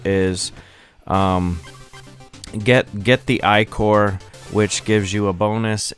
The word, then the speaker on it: ichor: gonna fill it with icore that's pronounced i-core he tells you um